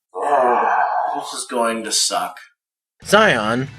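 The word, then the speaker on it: Xion: Zion, or as the game pronounces his name, Shiion, is one of the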